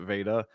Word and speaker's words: Veta: Is it Vita or Veta? Well, I pronounce it Veta.